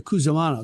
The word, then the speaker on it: Cusimano: Cusimano. They pronounced It was Cusimano.